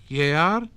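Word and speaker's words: gēar: But before and between I and E, and in some other places, the letter G had a sound like modern English Y. So jaar, year, jung, young, burian, to bury.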